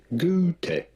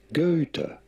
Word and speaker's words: Goethe: In German, his name would be pronounced something along the lines of Goethe. Goethe. Goethe. However, in English, it is usually said as Goethe.